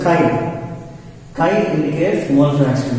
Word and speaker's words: chi: It's like X, but it's not X. See, pronunciation of the symbol is chi.